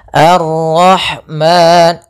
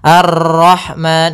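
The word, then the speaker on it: الرحمن: lafal ha arah ah bukan Rahmani tapi ha kecil Arrahman ya arrahmanirahim Ma ada Madi yaitu fathah ketemu Alif panjangnya dua harakat kemudian nirahim ah hati-hati kesalahan yang sering terjadi dalamah memantulkan rnya banyak misalnya Arrahman Nah ini salah untuk pantulan dalam huruf ro itu cukup sekali saja karena sifat ro ada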